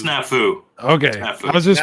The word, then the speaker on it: Snafu: I'm glad Casey talked about it because I needed to hear him pronounce this. You say Snafu? Snafu. It's Snafu.